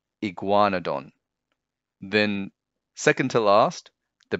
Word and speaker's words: Iguanodon: Four syllables, ig-wa-no-don, Iguanodon.